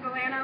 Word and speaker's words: Alana: It's actually pronounced Alana like banana, but I'll let it slide. So, hello Chapel Hill, hello Franklin Street, hello Alana like banana.